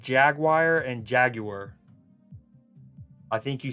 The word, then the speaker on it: Jaguar: Kind of like Jaguar and Jaguar. I think you say Jaguar like Jaguar when you're talking about the animal, and it's Jaguar when you're talking about the British car manufacturer.